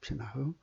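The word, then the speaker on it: בינה: 예수 그리스도로 말미암아 주시는 명철인데 그 명철의 그 원어가 비나흐입니다. 비나흐. 흐자를 이제 발음하지 않습니다. 비나입니다. 비나.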